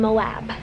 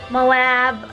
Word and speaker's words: Moab: We are in Moab. That's apparently how you pronounce it.